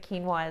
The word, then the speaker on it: quinoa: That gets butchered in terms of how to pronounce it, but quinoa is the right way.